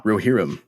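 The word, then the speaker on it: Rohirrim: How to pronounce the word Roherim. Give me one more time. Come on. Roherim.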